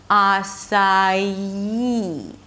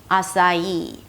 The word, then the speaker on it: açaí: And when we connect the 'sa' with the 'ee' we get a little bit of a 'y' sound - açaí, açaí.